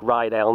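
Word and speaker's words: Ryedale: old name i think i think it's probably pronounced rydell now because it's spelt like rye as in rye bread or whiskey and rye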